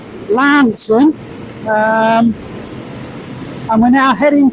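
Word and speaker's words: Launceston: so we've just left um Lon um pronounced locally as Lanson um and we're now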